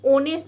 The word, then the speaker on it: honest: है ऑनेस्ट guys देखिए कई लोग ना इसको नेस्ट बोलते हैं नेस्ट पर ये नेस्ट नहीं होता ये ऑनेस्ट होता है बिकॉज एच साइलेंट होता है ऑनेस्ट का मतलब होता